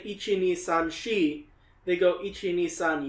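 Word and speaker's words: 四: Which is super unlucky because in Japanese the number 4 is shi, and shi is also like kind of, it sounds like the word for death.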